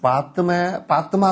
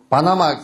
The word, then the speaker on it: 바드마: 바드마, 바나마 돼 있죠. 그죠? 바나마, 그 발음이 얼마나 많이 틀려. 이게 잘못하면 바나나가 되게 생겼다.